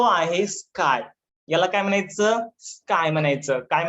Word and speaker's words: chi: याची स्पेलिंग आहे बघा, ची. याची स्पेलिंग काय आहे, CHI. तुम्ही याला ची म्हणू शकता, बट सगळेच लोक स्काय म्हणतात, त्याच्यामुळे तुम्ही याला स्काय म्हणा, कारण की ऑल ओव्हर वर्ल्ड मध्ये याला स्काय म्हणतात.